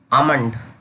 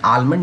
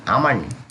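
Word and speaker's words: almond: आमंड, यहाँ पे आलमंड नहीं पढ़ेंगे, आमंड।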